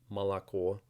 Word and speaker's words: молоко: Russian will tell you Russian is really easy to pronounce because the letter always says what the letter says and it never changes and they're right most of the time except for this word with three o's or the O in